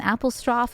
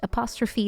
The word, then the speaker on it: apostrophe: will do wrong and apposto is something I keep doing too because of the way you say it in Dutch apostrophe is how you say it in English they don't own anything